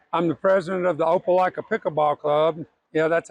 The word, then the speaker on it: Opelika: a volunteer okay I'm the president of the Opelika pickleball Club you know that's how you say